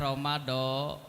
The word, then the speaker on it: Ramadan: Jadi yang paling utama bacanya Ramadan.